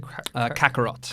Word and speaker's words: Kakarot: How do you pronounce it? Kakarot.